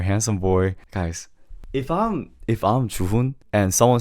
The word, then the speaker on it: Juhoon: you just call it Chuhun. Yes. Same thing with Chuhun. Instead of saying Chuhun, Chuhun. Do you see the difference? Is that you shouldn't put the accent on the h. It's just Chuhun.